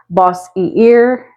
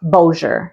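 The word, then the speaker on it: Bossier: how that is pronounced you might be tempted to say boss e ear I've even heard people think it's bosier but it's actually pronounced Boer a French influence here so it's a little fancier than it looks Boer city is home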